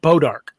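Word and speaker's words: Bois d'Arc: It's a French name, but anybody that lives there calls it Bodark.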